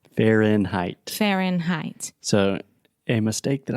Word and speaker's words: Fahrenheit: more for some reason when you say Fahrenheit the first part Fen you have the final in sound so to produce a sound the tip of your tongue is touching the top of your mouth the roof of your mouth and that's how you're closing that sound okay so when you